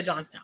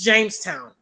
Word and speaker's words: Jamestown: Or did I say Johnstown? Okay, my bad. Well, you got it. Sorry. James John, I think they're brothers. My bad, guys. I mispronounced it. Thank you so much, Richard. It's Jamestown.